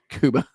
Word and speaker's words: Cuba: Kuba.